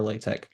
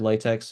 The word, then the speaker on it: LaTeX: Tons of resources out there for Latte. Um, and by the way, it's either said latex or latte. Um, they're synonymous. They're like the same thing.